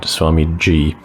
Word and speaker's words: Swamiji: No, it's with a J-I at the end, Swamiji. And she's going to explain how she is definitely not in a cult.